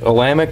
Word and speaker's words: Olamic: with them but uh it's alamic cut Cutlery it's o l a m i c um I just haven't heard him say it so I'm not sure I'm pretty sure that's how you pronounce it but I'm working with